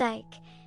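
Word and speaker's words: Eik: after him the name of Ike which is pronounced Ike and is Dutch for Oak when before his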